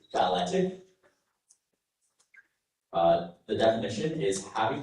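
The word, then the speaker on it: balletic: And I'll actually correct my pronunciation here. Uh to give you a better pronunciation. Your word is balantic.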